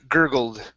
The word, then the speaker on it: gurgled: gurgled let's try that gurgled gurgle okay all right give me a d here at the end we're gonna say gurgled and okay so the